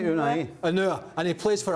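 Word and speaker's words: Ounahi: Now, my pronunciation here might not be perfect, but Unua, number 8 from Morocco. Nadim Unua? No. Jules, help me out. Help me out. Unai.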